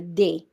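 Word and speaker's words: des: you change them you change it to a day okay d s we pronounce it as they so we have and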